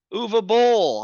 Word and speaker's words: Uwe Boll: in Germany folks I'll give you the awesome oova Bowl how do you do is UVA did I can't pronounce that right you did it perfect okay